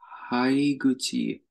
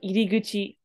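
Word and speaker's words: 入口: Sakaba no haiguchi wa soko da. Hi, good guess. This is actually iri. So iriguchi. But you're correct. That kanji can be pronounced as hai, like in hairu.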